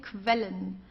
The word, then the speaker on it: quellen: Okay, don't forget, Q-U together is pronounced like a kv, okay, quellen.